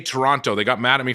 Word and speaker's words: Toronto: how do you say Toronto they got mad at me for saying Toronto wrong yeah because you're saying the T it's Toronto Toronto Toronto Toronto yeah yeah they